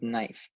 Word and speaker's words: knife: your fourth word was knife and this is how it's spelled once again take a look at the silent K it's there it doesn't make a sound but it's still part